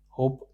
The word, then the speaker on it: robe: Robe is a dress. Pronunciation is robe or hob, but pronounced as robe.